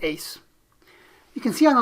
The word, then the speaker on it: AIIS: So let's take a look at the ACE model, A-I-I-S, we pronounce it ACE.